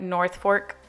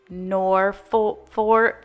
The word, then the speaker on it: Norfolk: or mispronounce it, like I said like North Fork garland and it's Norfolk and not North.